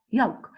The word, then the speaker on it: yolk: Talk, could, walk, chalk, palm, half, yolk. Those are all the words that has a silent L in it.